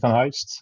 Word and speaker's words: van Heijst: I don't blame you I'm a President Van Heist I'm a Dutch airline pilot I'm now 39